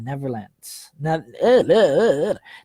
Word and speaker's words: Netherlands: she's now in the Netherlands. Nether. Nether. I'm thinking of Peter Pan when I say never. I don't think that ever exists. No, it's actually pronounced Nether, Netherlands. It's got a th.